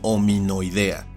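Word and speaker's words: Hominoidea: Y hay que tener cuidado de no confundir con la terminación de las superfilias zoológicas, donde estas tienen una forma escrita como esta que se pronuncia y castellaniza como ominoidea y los integrantes de esta serían los ominoideos.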